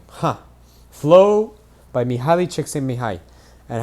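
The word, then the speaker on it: Csikszentmihalyi: there we go yeah that's literally how you say it too they have like the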